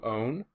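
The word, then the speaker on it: -one: to be changed to own okay spelled one like that but pronounced own and then the alahh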